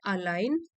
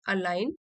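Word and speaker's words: align: यहां लिखा भी हुआ है making चॉइससेस that अलाइन अलाइन। Ji silent S में अलाइन with your values instead of running on auto pilot.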